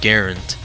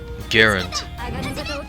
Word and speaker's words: Garand: to m1g let's see gerund is a French surname and he was Canadian gerund because he wanted his name to be pronounced gerund right now garand Gaelic and Jared go